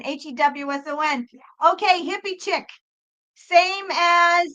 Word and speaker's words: Hewson: No, Houston is a city in Texas, not my real Bono's name, Paul David Houston. Yay! I told you folks you had to spell it right because everyone calls him fucking Houston. And no, he's not a city in Texas. Paul David Houston, Hewson.